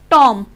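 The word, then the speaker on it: tomb: Letter ना हो, तो B हमारा जो वो साइलेंट बोला जाएगा। जैसे कि टॉम, बॉम्ब, जैसे कि बॉम्ब में हम बॉम्ब ब नहीं बोलेंगे क्योंकि वो प्रोनाउंस गलत होता है, इसलिए बॉम्ब बोलेंगे, बॉम्ब।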